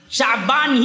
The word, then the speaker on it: شعبان: آتا، شعبانتن نہیں آتا، شعبان ہی آتا ہے، اور صحیح تلفظ اس کا ہے شین فتحہ والا، عین سکون والا، شعبان۔ شعبان اصل میں نکلا